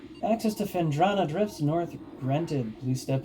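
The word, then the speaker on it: Phendrana: I always say Fenandra, but oh well. Access to Fendrana drifts north granted.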